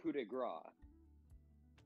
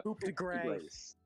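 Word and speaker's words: coup de grâce: There was this thing called a coup de grace. Or, if you're uncultured and pronounce things as American as possible, a coup de grace.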